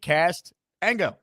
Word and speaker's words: Castango: Castango says, my name's confusing, but it's pronounced Castango.